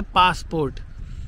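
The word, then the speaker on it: passaport: दूसरा है पासपोर्ट। आप लोगों को लग रहा होगा ये पासपोर्ट की स्पेलिंग गलत है, लेकिन नहीं, माल्टीज़ में पासपोर्ट को पासापोर्ट बोलते हैं, तो इन्होंने ये माल्टीज़ में लिखा है पासापोर्ट।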